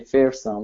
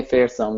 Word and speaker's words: Fersum: And I really like you pronouncing my first name really nicely, and particularly Fersum, like using that my last surname, calling me Fersum.